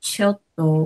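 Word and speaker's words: ちょっと: when we write in Roman alphabet, it's like It's two double T. yeah. So it's like a T sound, silent T sound. Silent T sound. So it can be chotto.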